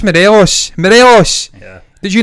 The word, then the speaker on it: Morelos: They say Yeah. Morales. It's just Morelos.